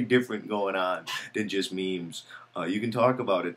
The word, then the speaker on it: meme: But to just say that it's a meme, and then meme, oh, that's nice, it rhymes with Gene, we're waiting for a